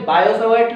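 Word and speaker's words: Biot–Savart: बायो-सावर्ट लॉ, यहां पे t capital इसलिए क्योंकि t साइलेंट होता है।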